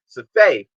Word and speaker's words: Safai: names um dylan arya safai safay is i believe the correct pronunciation um sorry for mispronouncing